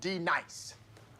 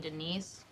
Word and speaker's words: Denise: Now, D nice. Do you mean Denise? Son of a bitch! You say your name right now. Denise? Say it right. Denise. Correctly. Denise. Right. Denise. Right. D-nice. That's better.